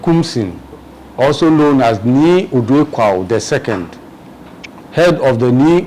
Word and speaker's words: Odoi Kwao: They say Sisiabo, it's Odoi Kwao.